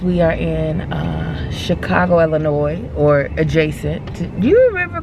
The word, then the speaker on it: Illinois: chicago chicago chicago illinois where you pronounce the thank you sir because why is the s there if we ain't gonna talk about it mention it we're gonna put an s in there when they ain't supposed